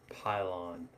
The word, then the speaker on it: pylon: Pylon.